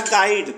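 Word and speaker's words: guide: silent है चौथा है गाइड तो गाइड में यू साइलेंट है चौथा है पांचवा है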